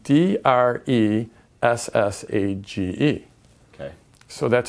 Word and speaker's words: dressage: But it's spelled D-R-E S-S-A-G-E.